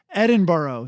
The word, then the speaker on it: Edinburgh: edinburgh i believe uh i think it's called edinburgh edinburgh i just want to give them more corrections edinburgh sorry uh called millennial i think it was